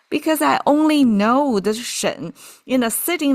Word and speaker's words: 沈: Now, this Shen you can see the pronunciation is a kind of a related but different. It's instead of a Jen, now is Shen.